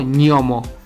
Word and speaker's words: gnomo: palabra gnomo ojo aquí el sonido gn en italiano se pronuncia como nuestra única e inigualable letra ñ pero seguida de una y así que se pronuncia como miomo y para decir él